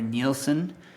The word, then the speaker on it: Nielsen: Nielsen, and that's spelled N I E L Sen.